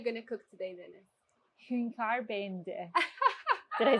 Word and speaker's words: Hünkâr beğendi: Hünkâr, beğendi.